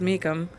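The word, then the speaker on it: Meecham: uh Mrs me Meacham her name is spelled m-e-e-c-h-a-m Mecca Mecum Mrs Mecum had announced the day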